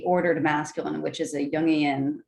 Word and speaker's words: Jungian: masculine, which is a Jungian, which is a word I just learned how to pronounce that. I used to think it was Jungian. Yeah, it's like a Jungian, consciousness archetype or something like that.